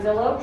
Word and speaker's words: Zillow: It's rhymes with pillow, starts with a Z.